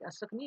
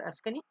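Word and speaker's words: Asikni: You can pronounce it like Asakni or Askani.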